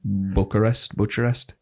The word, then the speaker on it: Bucharest: That's where he's based, out of Romania, Bucharest. Yeah, that's how it's pronounced.